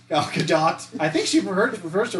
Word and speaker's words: Gadot: You're supposed to pronounce it, but I don't know how harshly. Gal Gadot. Gal Gadot.